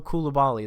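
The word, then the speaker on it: Coulibaly: I mean, you name it, Koulibaly, or however you, Bilal Koulibaly, that's how you pronounce his name.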